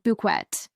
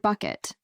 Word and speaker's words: Bucket: on the show is her absolute insistence that her surname is pronounced buet you are all now